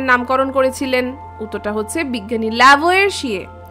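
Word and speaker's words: Lavoisier: উত্তরটা হচ্ছে বিজ্ঞানী ল্যাভয়েশিয়ে। বা অনেকে বলে উচ্চারণটা তো আমরা যেহেতু আমরা বাঙালি বা ভারতীয় আমাদের মত করে করি।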